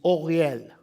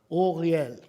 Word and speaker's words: Uriel: His real name is Oriel. Orel. In if you used Roman characters, it would be spelled U R I E L.